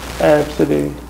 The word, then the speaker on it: Absidy: So when you say it, you have to pronounce Absidy. Letters like AB, C, D.